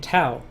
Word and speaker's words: Tao: Yeah, I was saying Tao. It's Taoism, right? You say it like it's a D, don't you?